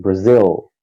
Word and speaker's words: Brazil: Isso, não pode ser igual o brasileiro fala Brasil com letra U. Tem que ser um L mesmo, Brazil.